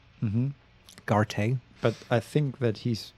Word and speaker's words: Garte: Okay, now I know how to pronounce his name as well. Mm-hmm. Garte.